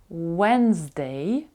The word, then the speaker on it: Wednesday: Tuesday Tuesday це є вівторок середа у нас вимовляється wedesday ми складаємо губи трубкою оскільки в нас слово